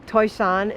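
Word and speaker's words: Toisan: toy san toy sun not pronounced like it's spelled toishan is like where the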